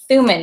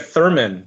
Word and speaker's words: Thumann: where in May Chad Suman now am I butchering your last name oh you're pronouncing it perfectly I'm very impressed usually I usually get Thurman so that's what my